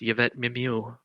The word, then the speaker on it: Mimieux: was then replaced with Yvette Mimieux. Wow. Again, I don't know if that's how you pronounce her last name. No, that's pretty. Yeah, that's good. Yeah, it's French.